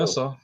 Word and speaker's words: Nassau: Nassau.